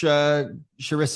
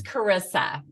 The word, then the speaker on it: Charissa: Well, thank you so much, Charissa. It's really great to be here. It's Carissa. Oh, Carissa. Okay, sorry. That's okay, because it's spelled with an H. So it's the Italian pronunciation.